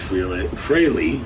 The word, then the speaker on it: Frehley: So, I got to thank him from the bottom of my heart honestly for without Ace Frillley is the correct pronunciation apparently. But without Ace Riley, uh, I would have never picked up the